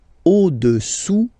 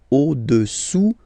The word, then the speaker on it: au-dessous: Le cube est au-dessous du cylindre. Okay? Au-dessous, final S not pronounced, du cylindre.